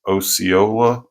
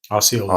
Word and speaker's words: Osceola: comes up, and I always mess up the pronunciation, but it's Osceola. Osceola, yes. Osceola.